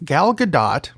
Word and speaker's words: Gadot: women Wonder Woman herself gal gadot because you pronounced the t had some comments about the passing of dr.